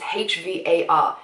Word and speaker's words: Hvar: I went to Var. I always pronounced it Var. It's H-V-A-R. It could be Hvar. I've always pronounced it Var. I might be wrong, someone's gotta tell me.